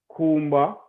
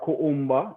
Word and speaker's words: Kuumba: The 7 principles are Umoja, Kujichakulea, Ujima, Ujama, Nia, Kumba, or Kuumba, depending on how you pronounce it, and Imani, or Imani, if you are Rasta, you have to emphasize the I.